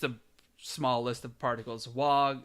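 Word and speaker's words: は: Wa. This looks like a ha, but it's pronounced wa.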